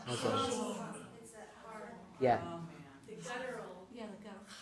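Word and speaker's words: חָזוֹן: Chazon. Chazon. Yeah. Oh, man. The guttural. Yeah. So it's not like we pronounce it k, like the kazon, or ch, chazon. It's ha, chazon.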